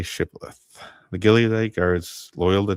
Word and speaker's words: shibboleth: When he said no, they said to him, "Then say Shibboleth." And he said, "Sibboleth." What is going on here? For he could not pronounce it right.